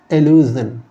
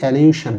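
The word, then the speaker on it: allusion: এটাকে বলা হয় এলিউজেন। এলিউজেন। এটাকে অনেকে বলে যে এলিউশন। কিন্তু এটা এলিউশন কোন উচ্চারণ হবে না।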